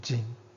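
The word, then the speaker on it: 京: the sense of outstanding this glyph is pronounced Jing as a Beijing it means Northern Tower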